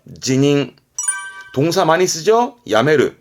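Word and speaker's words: 辞任: 뒷글자가 임자, 말 그대로 사임하는 발음은 지닝, 지닝.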